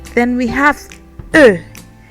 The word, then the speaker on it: I: And then we have I, that is pronounced like E in English. So E. E.